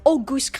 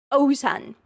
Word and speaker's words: Ozan: You might think it's Oan. And you would be entirely wrong my darlings. Let me scrap that out. Okay? Because the correct way to pronounce this name. Repeat after me. Ozan.